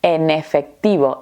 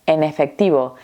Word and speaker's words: en efectivo: Porque la primera palabra termina con la consonante n y la segunda palabra comienza con la vocal e. Lo vamos a unir todo junto. Eso al final y es más fácil pronunciarlo, ¿no? En efectivo. N en efectivo. N. En efectivo. Parece que estamos diciendo en efectivo.